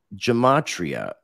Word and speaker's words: Gematria: So I'm, when you're dealing with cycles, because you mentioned the Jewish calendar, the Shemitah, the Gematria, and I hope, you know, I know I was like, how is, am I saying it correctly?